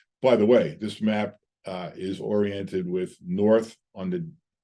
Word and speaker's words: IJ: This is the I waterway. By the way, I is written IJ, and it's pronounced I.